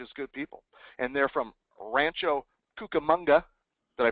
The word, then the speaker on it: Rancho Cucamonga: wife are just good people and they're from Rancho Cucamonga did I pronounce that right you you nailed it you